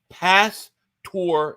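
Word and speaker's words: pastor: for uh super potatoes it's pronounced past tour it's marinated pork gotcha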